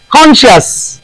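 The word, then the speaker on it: conscious: होता रही है वो ऑब्सीन मानी अब से कॉन्शियस इधर कॉन्शियस एंड हो कॉन्शियस सी राव साइलेंट कॉन्शियस अब से MUS अरे बोलते मास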